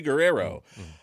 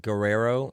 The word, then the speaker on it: Guerrero: I'll be like Guerrero, and then be like, it's Guerrero. You know what I mean? Like I don't like I should say it the way it is because I know how to say it in Spanish.